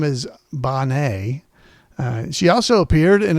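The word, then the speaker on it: Benet: Uh her name is Bonnet.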